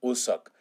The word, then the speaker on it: Wooseok: Y se pronuncia más como Usok.